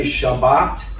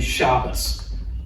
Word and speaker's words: Shabbat: Now, there are other groups that do change the sound, and that's why some people say Shabbat and others say shabbos.